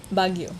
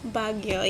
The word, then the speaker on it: Baguio: Baguio. Baguio, yeah.